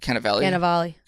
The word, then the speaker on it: Cannavale: Cannavale.